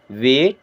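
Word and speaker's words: wait: ए आई है ना अगर आप 12 खड़ी में देखेंगे तो इसका उच्चारण होता है ए की तरह लेकिन क्या इसे वेट पढ़ेंगे नहीं इसका सही प्रोनंसिएशन होता है एक ही मात्रा लगा कर के ठीक है ना देन इसे पढ़ेंगे वेट मीस इंतजार कीजिए फॉर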